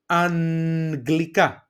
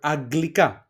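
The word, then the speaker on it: αγγλικά: Here there are two pronunciations. You can either say aggelos g, you go directly with a g sound, aggelos, or you can put it a little bit more slightly and put a ni in between. Look my pronunciation. The first one is aggelos, I went directly, but here I can say anglika, okay, anglika or aglika.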